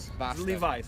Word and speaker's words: Levi's: Levi's. Levi's. Então o nome do cara é Levi pra gente, mas em inglês o nome Levi é Levi. Logo a marca que vai estar aqui é Levi's.